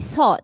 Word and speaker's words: thought: g h t it's pl s o t thought it's it's pronounced short so it's very easy sometimes this